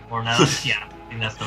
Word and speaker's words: Narancia: Honest, I thought Narancia was a girl first.